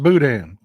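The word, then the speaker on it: boudin: o u d i n not not it's pronounced Budan it is but it's it's it's chicken and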